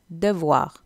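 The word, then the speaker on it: devoir: என்ன ஒரு விஷயம் நான் சொல்ல மறந்துட்டேன், டெவ்வாரில் ஹோம்ஒர்க்கில் வீட்டு பாடத்தில் அந்த ஓஇ அதான் அந்த ஓஐ என்று வர்ற ஃப்ரெஞ்சில் வா அந்தான் நீங்கள் ப்ரொனவுன்ஸ் பண்ணணும். ஸோ அதை நீங்கள் டெ வான்னு தான் சொல்லணும்.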